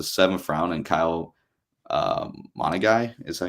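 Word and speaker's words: Monangai: And Kyle, um, Monagai, is that how you say it? Running back from Ruters. Yeah, Manangai.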